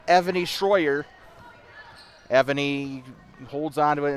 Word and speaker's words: Evony: By the way, Evony approached us before the agame today. Corrected us on our pronunciation. It is Evony. We said Ivani last night. It is Evony Stroyer. She said the last name